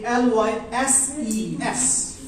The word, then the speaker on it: analyses: It becomes analysis, and in plural form it becomes analyses. So naturally, its pronunciation changes accordingly.